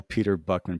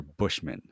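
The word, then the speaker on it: Peter Buchman: I always call Peter Buckman Peter Buckman, but Joe Johnston calls it Peter Bushman. Bushman. Bushman. So, I've been saying it wrong, I guess.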